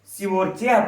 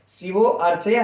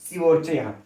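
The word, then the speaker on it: शिवोऽर्चय: लिए कोई चाहिए ना, लेकिन उच्चारण में इसको बोला नहीं जाता है। शिवोर्चय पढ़ा जाएगा, शिवो अर्चय नहीं, शिवोर्चय।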